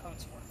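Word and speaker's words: Cotesworth: So C-O-A-T, like we wear a coat, but his name is Coatsworth. Is he the one that was injured in the... No, he's the signer of the Constitution. Okay. So he's C-O-T-E-S Worth. So it's just definitely spelled differently, but phonetically sounds the same.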